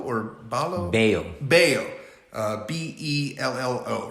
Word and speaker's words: Bello: uh yesterday that was bello or balo bao uh b-e-l-l-o right yep yeah but the way they pronounce it yeah two l's in it two l's in spanish is what a y yeah um now he